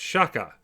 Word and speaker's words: Shaka: here and of course you have to say it properly you know it's shakka when the walls fell